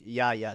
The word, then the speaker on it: Yaya: That's how you say his name is Yaya.